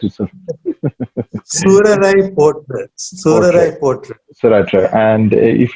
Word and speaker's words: Soorarai Pottru: If my pronunciation is wrong, please correct it, sir. Soorarai pottru.